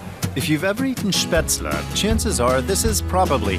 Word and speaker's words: Spätzle: The pronunciation can be a challenge, though. Spätzle.